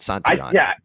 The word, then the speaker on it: Santillan: So it's Tony Santillan? I didn't know how to say it. I was going to ask you. The L silent. Santillan.